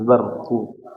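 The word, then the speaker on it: بَرْقُ: Ayo pengucapan rnya rnya ditebalkan jangan barqu itu belajar lama ini ya gini bar bar bar jangan bar tapi baru rnya jadi tebal di situ kan karena sebelumnya fathah barqu jangan dibaca yakadul barqu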